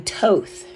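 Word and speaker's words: Thoth: don't know the being Toth I pronounce it Toth because that thought tooth the age is silent that second age to me is silent so Toth also stalks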